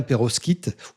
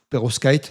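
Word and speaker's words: pérovskite: J'espère que je prononce bien Peros Kit. Perfos kite. Non, je pense que c'est plutôt Perovskit.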